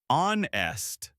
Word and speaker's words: honest: The H is silent. You say honest.